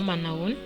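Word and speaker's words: Manao ahoana: jour là noun manhunt s'écrit comme ceux ci comme vous pouvez le voir si un peu compliqué à l'orthographe mais mais ce style tout simplement manawan vous pouvez également dire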